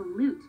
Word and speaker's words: lute: similar to another instrument called the loot which rhymes with flute